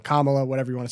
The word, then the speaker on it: Kamala: was apparently according to her meet Dylan she's pronounced her own name camela Kamala whatever you want to say four different ways